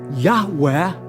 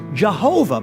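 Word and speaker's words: Yahweh: So rather than being pronounced Yahwe, the church says Jehovah, but there is no God named Jehovah.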